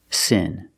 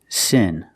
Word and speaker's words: sin: The first word is sin, with the short I sound like this is, sin.